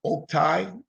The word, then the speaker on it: Oktay: your name all right my name is pronounced Oak TI Oak as and tree Tai as and tie last name is